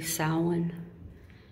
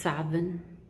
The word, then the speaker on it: Samhain: So there is the, some people say Samhain. It can also be pronounced Savin.